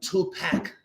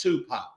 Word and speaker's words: Tupac: oh yes I really love your American rap music your uh tup pack and she was like and I laughed and he was like what are you laughing at she was like well it's pronounced Tupac and he got like